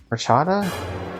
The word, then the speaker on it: horchata: Yeah, you wouldn't pronounce the H. Sorry, my brain died when that sound effect played. You wouldn't pronounce the H, but yeah, horchata.